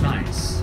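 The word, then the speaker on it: gneiss: guys gnv I SS scientific name is pronounced nice to your left big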